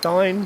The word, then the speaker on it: Dyne: top and dine section Dean I'm going to keep saying Dean I know I know it's pronounced dine but I've been calling a Dean for like 20 years I'm sticking with it